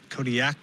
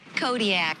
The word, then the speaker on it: Kodiak: in the olympic language the queues are more come from like your throat than a normal k does how would we pronounce it then kodiak kodiak not that last one so we're going